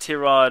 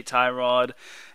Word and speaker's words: Tyrod: like everybody calls him tyrod unfortunately it is pronounced t-rod according to t-rod and but we're gonna have a little swear jar every time we say tie rod it's uh it's instead of t-rod so either